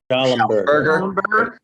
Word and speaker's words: Schallenberger: Robert, how do you pronounce her last name? Schallenberger.